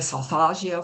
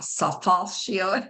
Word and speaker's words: solfeggio: The name is taken from 2 of the syllables, the sol and the fa, solfeggio.